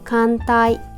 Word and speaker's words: 寒帯: 주면이 아이가 오한에 해당하는 말로 일본 발음도 비슷해요 칸이라고 읽어요 자 그러면 같이 읽어 볼게요 춥다 사무이 한대 간타이 온데 온타이 그다음에 한기의 카키 추위를 느끼다 사무라고